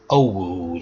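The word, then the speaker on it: אור: In the first instance, the word for light is Owud, and that's how you pronounce it, O-W-R, which means light.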